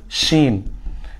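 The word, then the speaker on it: شين: না এটা হয়ে যাবে শিন এটা হয়ে যাবে কি শিন আগে ছিল সিন এখন হবে শিন শিন আগে একটু এরকম আওয়াজ হবে আর সিনের আওয়াজ হবে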